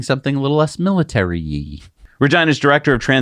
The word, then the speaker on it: Regina: Regina, it rhymes with fun.